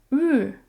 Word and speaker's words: 日: So 日 is a kind of a hard word to pronounce in Chinese, so try it with me. 日, 日.